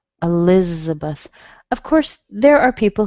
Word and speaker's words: Elizabeth: So you don't really hear Beth, do you? You hear Beth, Elizabeth, Elizabeth.